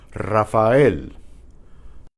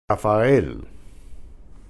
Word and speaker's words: Rafael: Okay, the initial R is trilled. Try these syllables. Ri, re, ra, ro. And they have some names here. These are common names in Spanish. Rafael, Rafael.